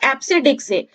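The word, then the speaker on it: EBCDIC: एप्सिडिक, इसको प्रोनाउंसिएशन किया जाता है एप्सिडिक से और ये यूज करता है 8 बिट्स।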